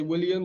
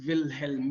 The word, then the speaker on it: Wilhelm: matter both are okay wilhelm is the german spelling he was german so wilhelm is the german pronunciation but if you say william that's fine too i'm